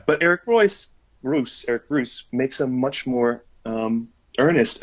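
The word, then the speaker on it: Reuss: So compare that to Spirit Island, which and I looked up an interview with Eric Royce, or Eric Roos, I think is actually how it's pronounced, who is the also European designer of Spirit Island.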